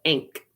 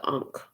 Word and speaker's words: ankh: know is the unk somebody doesn't know how to pronounce ankh right they call it ink somebody ain't with the ankh or somebody ain't with